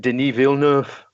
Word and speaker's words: Denis Villeneuve: took a long time but finally we get denis villeneuve I hope that's how you pronounce it that's how you that's how you